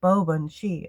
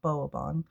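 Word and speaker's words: Baobhan Sith: Pronounced Booni. Oh, okay. Bob, not Boaban.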